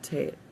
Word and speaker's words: Tet: The ninth letter of the Hebrew alphabet is called Tate. Rhymes with mate and has the sound of T as in tall.